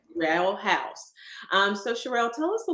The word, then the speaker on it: Sherrell: So Sherrell, is that how you pronounce it correct? Correct. Sherrell House.